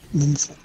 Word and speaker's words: Denzel: Denzel. According like to Crocker. Him, that's... According to him, that's how you pronounce it.